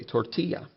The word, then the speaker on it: tortilla: english as yep tortilla we even kept that the pronunciation of the double l instead of saying tortilla we keep it the spanish way tortilla sometimes languages will borrow